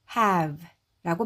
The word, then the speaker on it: have: H는 크라고 읽고 그리고 여기에 A는 원래는이 무음에 영향을 받아서 A라고 소리 나는게 일반적이지만이 경우에는 예외입니다. 그래서 상관없이 그냥 에로 발음을 하고요. 그러면 그리고 V는 V. 그리고 e는 묵음입니다. 그래서 have라고 발음하시면 돼요.이 have의 뜻은요.